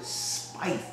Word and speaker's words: Spieth: Stack pronounced it Spieth. I think it's Spieth. Well, we're going with Jordan.